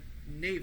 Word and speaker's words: Neva: So they were just about to leave when Pansy saw Nea. That's how you pronounce his name.